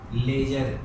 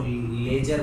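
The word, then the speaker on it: ledger: General entry के बाद में लेजर सेकंड स्टेप आती है। ये डी जो है वो साइलेंट रहता है, इसको लेजर बोला जाता है। ले और जर, डी जो है इसका साइलेंट रहता है।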